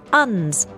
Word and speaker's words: UNS: Well, actually you you you hit the you hit the nail on the head. It's uns vertical farms.